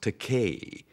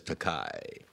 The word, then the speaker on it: Takei: I said, Bill, it's pronounced Takei. It rhymes with toupee. I thought that would do it. No, it just lies there, and he still says Takei.